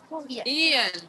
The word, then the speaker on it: Jan: How do we say his name? Ian.